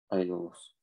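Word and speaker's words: Αἴολος: Ударение вот такое, значит. Айолос.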